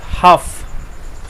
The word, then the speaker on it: half: HALF, হাফ, এটার উচ্চারণ বাচ্চারা একটু দেখে নাও। HALF, এখানে এখানে এল এর উচ্চারণ হবে না, এটার উচ্চারণ হবে হাফ।